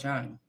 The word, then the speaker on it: Jung: I don't pronounce the J. It's like a Y.